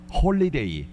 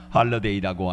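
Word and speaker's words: Holiday: 있지 않습니까 2004년에 개봉했던 영화 홀리데이 할리데이라고 해 발음해야 됩니다 할러데이라고 하는 영화가 있습니다 사진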